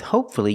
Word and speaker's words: hopefully: noise let's review so with words like hope hopefully respectfully and successfully we pronounce a u why because with hopefully you have one syllable before f y pronounced a u if you have two syllables before f y and the stresses on the second syllable pronounced the you so again hopefully respectfully and successfully but with words like these